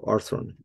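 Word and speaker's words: ἄρθρον: I think throne, arthron, I don't think the accent is on the first syllable. Let's check that. Arthron. So, ar oh, what? Oh, I forgot about the arthron. Sorry, forgot about the row right after it. Yeah, there you go. First syllable. There you go.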